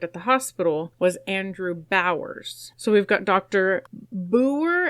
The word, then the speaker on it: Bouwer: So, it's b o u w e r, which could could just be pronounced Bower.